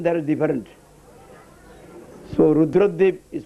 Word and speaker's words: Rudradwip: According to scriptural name, this place name is Rudradip. But ordinary persons, they wrongly pronounce it as Radhupur.